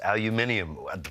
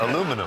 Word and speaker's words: aluminium: back and forth with the producer on, it's aluminium, but that's not how I say it. How do you say it? Aluminum.